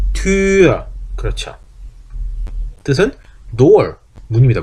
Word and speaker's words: Tür: 옴라우트는 입모양이 바뀌면 안 되는 거예요. 우 한 상태에서 입모양 그대로 두고 이만 발음하니까 위가 아니고 어떻게 된다? 위 아니에요. 그러니까 이대로 발음하면 Tür.